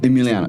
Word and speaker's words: Eemeleeano: Emmeliano. Emiliano. Yeah. And that's the way the way it's spelled it's spelled a little bit differently like